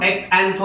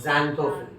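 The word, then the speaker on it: xanthophyll: और प्रोनाउंसिएशन भी अलग है, इसको एक्सएंथो मत बोलना, ज़ैंथो। कितना मस्त ग्रामर है, ज़ैंथोफिल।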